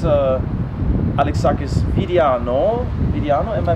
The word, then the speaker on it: Vidiano: Vidiano, am I pronouncing it correct?